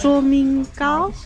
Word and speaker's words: 崇明糕: 卓明糕?